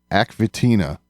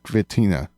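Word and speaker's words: Aq Vetina: his home actually tina fitina is it a water planet not aquathena oh yeah and i i could be pronouncing that incorrectly but it's aq space capital v e t i n a v tina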